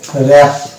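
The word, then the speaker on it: wrap: ডব্লিউ আমরা বাদ দিই তাহলে উচ্চারণটা কি আসবে উচ্চারণ আসবে র‍্যাপ এখানে কিন্তু ডব্লিউ স্যালেট আর এ পি র‍্যাপ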